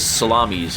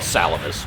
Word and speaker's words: Salamis: As this salamis here is going to they're called salamus, but I like to call them salamis cuz they're spelled the same way.